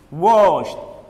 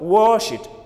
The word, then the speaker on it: washed: The first one has an SH sound at the end. Wash, wash, washed, washed, washed. The ED is pronounced as T.